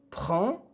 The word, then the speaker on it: prend: L'enfant prend une pomme. L'enfant prend une pomme. Prend حرف le verbe prend حرف الدي في الأخير لا ينطق.